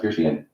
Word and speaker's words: Verstehen: Weber taught his students that they should employ Verstehen, pronounced Verstehen, the German word for understanding or insight, in their intellectual work.